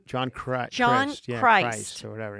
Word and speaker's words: Christ: John Christ. John Yeah, Christ. or whatever. Yeah. Interesting last name being that he was a Christian-based I think comic. he pronounces it Chris, but you're right. It is Christ.